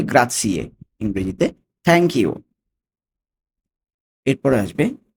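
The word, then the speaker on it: grazie: গ্রাসিয়ে উচ্চারণটা খেয়াল করুন জেড আছে কিন্তু উচ্চারণ হবে গ্রাসিয়ে ইংরেজিতে থ্যাঙ্ক ইউ এরপরে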